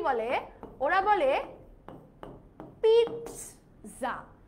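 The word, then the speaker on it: pizza: পিৎজা হচ্ছে একটা Italian শব্দ, সো ইটালিয়ানরা যেভাবে উচ্চারণ করে সেভাবেই বলতে হবে। ওরা কি বলে? ওরা বলে পিৎজা।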